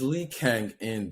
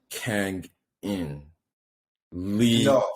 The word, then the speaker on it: Lee Kang-in: Okay, they were definitely not pronouncing his name like that. Because look, that's how his name is written on his jersey. I noticed that. But the guys, they were pronouncing it Kangin Lee. That's how they were saying it. Kangin Lee. Oh, because surname before.